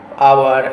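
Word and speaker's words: hour: हैं, एन हॉनर, एन आवर, an honest. क्यों? क्योंकि एच जो है वो साइलेंट है और यहाँ पे ऑनर, आवर, honest man यूज किया जा रहा है।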